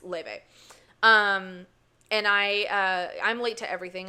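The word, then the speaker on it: Laufey: Laffy? Leve. It looks like it's spelled Laffy, but it's Leve.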